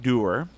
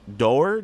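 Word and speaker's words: Doerr: And a little tiny bit of information about Clyde Dewar, who was Dewar, D-O-E-R-R. That's how you pronounce it. I'm going to say Dewar. We'll go with that.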